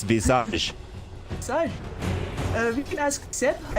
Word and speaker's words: Visage: Visage is clearly the full French. Yeah, the full French. It's Visage.